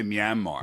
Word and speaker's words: Myanmar: of geography in Asia I i pronounced as Mayan mar is that how you pronounce it i would say myanmar yanmar yeah let's get